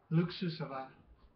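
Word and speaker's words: Luksusowa: Most vodkas are made from the fermented mash of grain, whereas LOOK-SOO-SO-VAH vodka, meaning luxurious and pronounced LOOK-SOO-SO-VAH, is distilled from potatoes.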